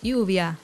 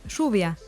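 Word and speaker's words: lluvia: spanish and traditional spanish double l is pronounced with a sh sound instead of a y for example rubia rein is not pronounced uvia but instead is pronounced shuvia another difference is the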